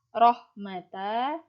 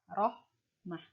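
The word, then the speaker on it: رحمة: Bacanya bukan rohmata tetapi rohmah. Tanya itu berubah menjadi huruf H.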